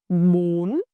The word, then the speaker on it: Bún: Bun. Bun. Bun. For our second syllable, ma the initial consonant m same as before.